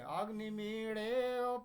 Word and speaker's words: अग्निमीळे: वो अग्नि ड़ और ल के बीच में अग्निमीळे पुरोहितम।